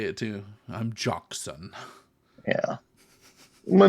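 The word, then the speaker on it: Jocsan: and that's how they'll say it too I'm jockson yeah my name is jokes all right Cleve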